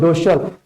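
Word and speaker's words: docile: हैं, that is called डोसल। इसको डोसाइल नहीं पढ़ेंगे हम लोग, डोसल इसका रियल प्रोनाउंसिएशन है डोसल, दैट्स व्हाई डोसल हम लोग बोलेंगे इसको।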